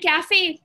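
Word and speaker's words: café: And cafe, coffee is called cafe in Spanish. Cafe, it's called cafe. Remember, A is the A sound.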